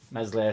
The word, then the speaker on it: Meslier: he's just second to mez messier silent s uh he's at batis